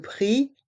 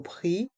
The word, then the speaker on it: prix: Le prix, la taille. Le prix, la taille. Dans le mot prix, le X est muet.